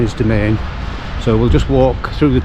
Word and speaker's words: Demesnes: Uh it's spelled a strange way, but it's actually uh domain or domains. the domains is how it's pronounced.